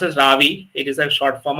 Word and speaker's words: Ravi: like my kind of name but it is pronounced as Ravi it is a short form of iravati so